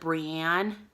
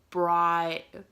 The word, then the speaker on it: Brienne: Another one that I just listened to was, instead of Brienne, he says Brian. He makes it into 3 syllables instead of a 2-syllable name.